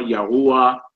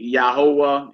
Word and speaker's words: Yahweh: When I read it in the Bible, I say Yahuwah, Yahuwah, Yahweh.